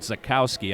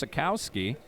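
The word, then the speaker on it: Zajkowski: the call flags down I'm gonna call it Zukowski I don't believe that J is pronounced in those names Travis sakowski 6-1 205 quarterback calexis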